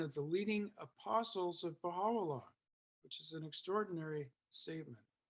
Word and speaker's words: Baha'u'llah: U is pronounced O, the short U is pronounced O in spoken Persian.